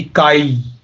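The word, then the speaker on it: كَيْ: तो का के बाद या आया है तो इसकी प्रोनाउंसिएशन बनेगी काई, का और या, काई।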